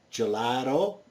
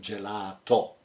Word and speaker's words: gelato: Again, gelato in English, in Italian we say gelato.